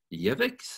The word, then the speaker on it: Yevix: And we have Yevix. Is that how it's pronounced? That's right. Two for two.